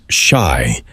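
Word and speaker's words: 四: In Japan, the number four is pronounced "shi", the same pronunciation as the Japanese word for death.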